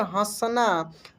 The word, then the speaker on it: हंस: हंसना। तो देखिए, यहीं से आपको क्लियर होगा कि अंतर क्या है। यहाँ पे जैसे कि इसको हम क्या बोले, हंस, यानी यहाँ पे आधा न का उच्चारण हुआ।